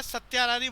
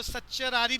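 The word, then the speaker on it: certiorari: ये इसका प्रोनाउंसिएशन क्या थर्ड वाले का? थर्ड वाले का सत्यारारी बोल सकते हो, सच्चरारी भी बोल सकते हो, सच्चरारी। लैटिन भाषा की टर्म है।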